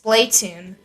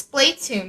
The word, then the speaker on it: Splatoon: supposed to be pronounced Splatoon, as we designated over on Off the Wall, which your two Did favorite... Yeah, we were like, no, it's Splatoon, because there's only one consonant separating it.